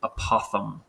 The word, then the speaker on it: apothem: It's pronounced apothem.